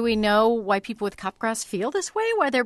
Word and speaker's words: Capgras: Pronounced like Capgras.